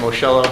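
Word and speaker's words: Moschello: It's Moscello, it's spelled M-O-S-C-H-E-L-L-O, and my business address is 265 Main Street, Gladstone, New Jersey.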